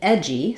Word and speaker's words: edgy: ending similar ending in edgy so words that end with dgy are going to have the J sound like we say in jump and we'll have again